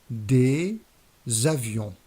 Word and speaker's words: des avions: And with the plural article des, the liaison here consists in adding a z sound at the beginning of the noun. For example, des avions, planes, des éléphants, elephants, des hélicoptères, helicopters, des ordinateurs, computers, des ordinateurs.